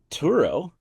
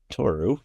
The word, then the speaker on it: Tohoru: Turo or Toru, my bad. I just was got so excited I mispronounced your name.